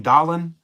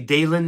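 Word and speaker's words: Dahlen: the best shortstops of the time most people mispronounce his name dolan but it's actually dalen is how you pronounce it he's won bob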